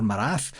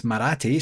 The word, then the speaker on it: Maratti: of the speeches and maratti. I I had him as Marat or Marath and he corrected whomever had introduced him to say it's Maratti. So I'm going to say Maratti like karate just so that you